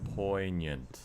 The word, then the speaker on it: poignant: Which pronunciation correct again? Poant. Poant. I said poignant all the time.